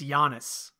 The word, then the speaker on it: Giannis: so by the way it's a silent G it's Giannis Giannis I you know it's